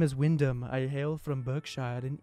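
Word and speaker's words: Wynndham: just gonna say it my name is windham it's eight letters w-y-n-n-d all right that's my name i'm the only person in the world that has a name spelled like this all right it's pretty unique so thanks mom for giving me a dope name it's just like the hotels the hilton garden inn by wyndham except they spell it with one end i wish i was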